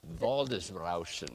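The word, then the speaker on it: Waldesrauschen: How do you pronounce vald valdis valdis rousen?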